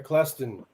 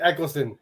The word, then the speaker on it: Eccleston: conflicting okay uh jonathan claston i hope i pronounced that right thanks for joining us doesn't sound like you did like eccleston is the right pronunciation jonathan uh saslar does